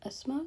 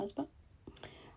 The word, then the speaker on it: Asma: I was like, I would like to point out my name is Asma, not Asma. It's spelled Asma. It's spelled the Pakistani way, but it's Asma, which means high standards.